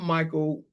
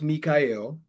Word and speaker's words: Mi'chael: My Facebook is spelled spelled Michael but pronounced Mikael which is Michael